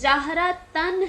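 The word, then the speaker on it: جهرة: فتح کی تنوین ہے۔ جہرتن کا تلفظ جہرتن ہے، مطلب نون کی آواز ہے لیکن نون کی شکل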